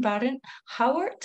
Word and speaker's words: Barron-Hauwaert: We're here today with our fourth guest, and it's Suzanne Barron-Hauwaert. Am I pronouncing your surname correctly, yeah, Suzanne?